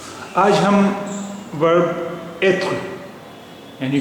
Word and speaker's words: est: il est, E-S-T को pronounce करते हैं ए।